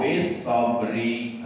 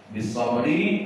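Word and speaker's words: بِالصَّبْر: Wa tawasau bil haqqi wa tawasau bis sabri. Nah, ya itu bil haqqi kepanjangan, bis sabri, nah itu tidak tepat, jadi bis sabr.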